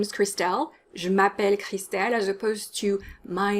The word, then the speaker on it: je m'appelle: name is cristel crystal japan is also often mispronounced i get a lot of je m'appelle je m'appelle with a strong english accent and the french sounds are ignored the a in je m'appelle needs to be a strong r it's not a sound it's ma pel you know how in